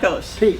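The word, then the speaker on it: Voulkos: Volkos.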